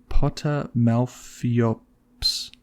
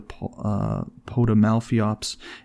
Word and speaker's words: Potamalpheops: It is the Potamalphiops. Wow, that is Potamalpheops at the end, Pheops at the end.